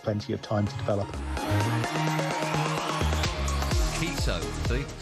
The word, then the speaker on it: Enciso: Enciso, see? That's how you pronounce it.